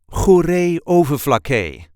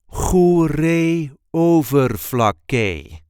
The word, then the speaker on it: Goeree-Overflakkee: This is the way we say Goeree-Overflakkee. Goeree-Overflakkee. There is a light emphasis on the first syllable of the second word.